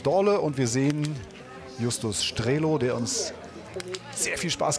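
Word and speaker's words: Strelow: Er wollte unbedingt wissen, ja, wird er denn wirklich Strelov ausgesprochen? Oder nein, habe ich gesagt, Strelo.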